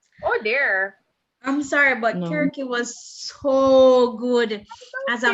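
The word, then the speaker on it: Circe: Oh, just to let you guys know, it's Kirky, my Greek friend confirmed. Oh, yes. Kirky. Scribed. Because there's no soft C in the Greek alphabet.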